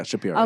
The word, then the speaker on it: Schapiro: Yeah, Schapiro.